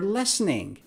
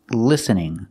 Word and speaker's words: listening: cannot say lessening lessening the word is pronounced listening listening we have the letter I making the short I sound like this is correct pronunciation L listening I cannot say lessening I cannot use the short a sound for the first syllable I have to use the short I sound listening not listening are you listening to